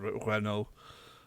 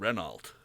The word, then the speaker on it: Renault: I don't know how to pronounce Well, it. it's French, so it's Peugeot. But okay. we don't say that. And Renault.